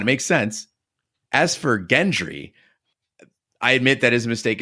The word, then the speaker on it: Gendry: makes sense as for Gendry I admit that his mistake is well on the pronunciation I've been listening to the audio books of Game of Thrones and on those they pronounce it gentry and there's also all